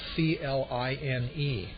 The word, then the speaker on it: Klein: Leading it off and at second base is number 3, Matt Klein, Kline.